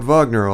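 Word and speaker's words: Wagner: you like Vagner she pronounced the composer's name as he would have said it himself and pushed out the first syllable harshly don't know much about Vagner Olga the most I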